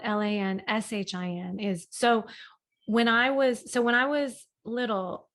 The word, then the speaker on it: Lanshin: And they'd be like, Lanzine, and like I just I'm done with mispronunciation of the name. So I just made it SHIN because it was the closest that I thought an